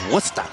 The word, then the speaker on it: Worcester: Did you pronounce that correctly? I thought it was Worcester. That is correct, actually.